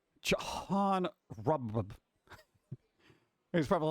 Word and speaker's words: Robb: And the last name Robb with 2 B's. It's like Rob. It's Rob. John Rob.